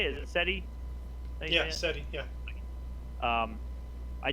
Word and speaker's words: SETI: seti yeah how do you say is it seti thank you yeah um i just read an